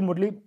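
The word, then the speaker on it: Murlen: इसके साथ में ये मरले, जो कि मरले के नाम से हमने याद किया है, वैसे मुरले इसको रियल प्रोनाउंसिएशन होगा, ये यहाँ पे हैं।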